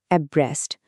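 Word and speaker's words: abreast: আমাদের প্রথম শব্দটা হল এব্রেস্ট। উচ্চারণটা খেয়াল রাখতে হবে এব্রাস্ট।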